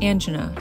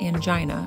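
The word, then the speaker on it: angina: As for the second term, it's correctly pronounced anga, short I, not anggina, rhyming with well.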